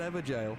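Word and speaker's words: Evergaol: the one in the evergel yeah i know i said it right i said ever jail holy crap thank you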